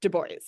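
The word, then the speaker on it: DuBois: this fellow Robert Deo and yes I am pronouncing that correctly he loved to go by Robert Debo and he would correct everyone if they tried to pronounce it in the true French way so first off Robert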